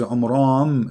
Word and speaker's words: Amram: Secondly, he could not pronounce the name correctly of the father of Moses and Aaron, because his name is Amram. So the last letter is M, not N.